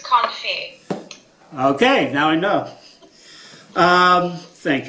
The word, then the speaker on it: confit: Therefore, it's did I pronounce that right? Comfort? What? Is that how you pronounce it? I think it's confit.